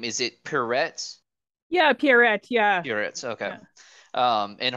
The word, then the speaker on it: Pierrette: And then of course, and I've always had confusion pronouncing her name. Is it Pierrette? Yeah, Pierrette, yeah.